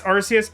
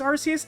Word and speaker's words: Arceus: there i love him it's rcs okay i actually really appreciate the clarification because like i actually originally thought it was arceus and then i feel like i heard a lot more people pronouncing it with like the hard c when the new game